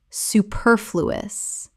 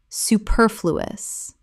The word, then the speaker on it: superfluous: prerogative prerogative Word 257 superfluous Common mispronunciation superfluous Correct pronunciation superfluous Four syllables with the stress on the second.